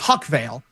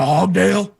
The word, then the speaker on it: Huckvale: bail him out, and the jail guard mispronounced our last name, which is Huckvale, and he said oh, you're looking for Hogdale.